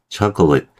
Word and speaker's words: chocolate: 다음은 초콜릿도 마찬가지예요. 어, 차 여기는 아예 발음이 없네요. 그죠? 그다음에 초콜릿 chocolate 거의 그냥 붙어 버려요. 발음이 소리가 거의 없어요. 소리를 내더라도 되게 빠르게 지나간다는 얘기예요.